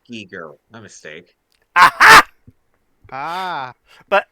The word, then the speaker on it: Giger: pronounced Giger.